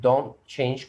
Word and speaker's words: don't change: The second thing you notice that Lujine said it don't change correctly. ما قالتش don't change. T is silent. Don't change.